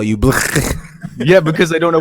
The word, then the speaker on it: Blckk: It's Black, right? I'm saying it right. Yes. Yes, Yeah, it's Black. finally somebody who doesn't call me Blckk.